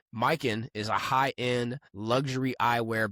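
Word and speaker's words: Mykyn: We want to show some love to our first ever sponsor, Mike. That's spelled M Y K Y N. Mikin is a high-end luxury eyewear brand focused on quality, craftsmanship, and timeless style.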